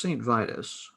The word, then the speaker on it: Saint Vitus: quintessential doom bands that begins with the letter s rhymes with titus the first saint vitus uh with the embossed